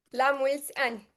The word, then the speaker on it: La mulți ani: La mulți ani? La mulți ani. La mulți ani.